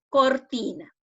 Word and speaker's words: cortina: Entonces, ¿cuál es la sílaba que tiene la mayor fuerza de voz? Pronuncien ustedes en sus casitas. Entonces, ¿cuál sería? Sería la ti, ¿no es cierto? La sílaba ti es la de mayor fuerza de voz, correcto.